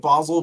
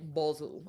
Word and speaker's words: Basil: Uh I I think I started calling it Basle because that's how uh Matthew Smith pronounces it in Doctor Who. So, I like He sounds fancier saying Basil.